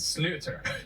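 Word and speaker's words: sliotar: oh God tell me so it's spelled Sly atar but I looked up the pronunciation because I didn't want to make people mad at me but it salutes her don't worry about it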